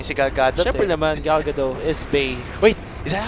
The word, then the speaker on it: Gal Gadot: Siyempre naman, Gal Gadot is Bay. Wait, is that how you pronounce her name? Gal Gadot?